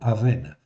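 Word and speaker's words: אָוֶן: le mot avon, c'est le mot aven. Mais ici, ce mot-là ne commence pas par un aïn. Ok, ça se prononce, c'est presque le même son, mais ça commence par un aleph.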